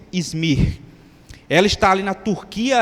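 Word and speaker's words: İzmir: conhecido como izmir né eu creio que esta é a pronúncia izmir ela está ali na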